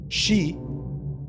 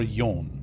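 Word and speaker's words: 四: an unlucky number because it can be pronounced one of two ways she or yon. She is also part of the word for death. It's it means death.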